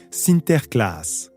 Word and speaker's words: Sinterklaas: La communauté hollandaise maintient ses traditions d'antan et célèbre la Saint-Nicolas, prononcée Sinterklaas.